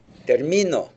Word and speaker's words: termino: your p and qes you got to be careful about which syllable you stress hard it's going to make a big difference in Spanish but again remember that